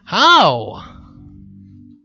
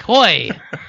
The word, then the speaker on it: Hoey: Today we have Howe. It's Hoey. Oh, shit. Rhymes with boy. Hoy.